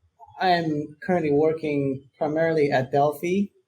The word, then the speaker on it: Delphi: So I'm currently working primarily at Delphi. Or it's Delphi, not Delphi actually, but even our founders pronounce it wrong.